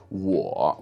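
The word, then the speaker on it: 我: of course we have the very common word war with the third term which means I or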